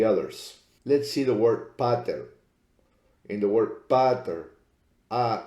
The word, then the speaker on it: pater: In pater, P-A-T-E-R, there's only one consonant in between. That would make the A long and the E short.